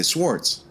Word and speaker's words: swords: Because honestly, there is a W there, but nobody really pronounces the W that much. They usually, he says like swords or something like that. We usually just say swords.